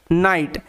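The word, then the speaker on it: night: পিছনে রুলসটা হচ্ছে যে জি এইচ এর পরে যদি টি থাকে সেই ক্ষেত্রে জি এইচ সাইলেন্ট থাকে এবং জি এইচ এর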